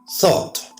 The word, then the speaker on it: thought: Thought.